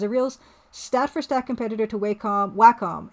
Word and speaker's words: Wacom: Yeah, well, Old School J, Wacom makes good technical hardware.